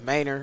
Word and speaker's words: Manor: I tell them they pronouncing it wrong, but it's Manor.